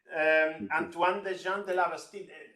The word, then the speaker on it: Antoine Desjean de la Bastide: Antoine Desjean de la Bastide. Antoine, have I pronounced correctly?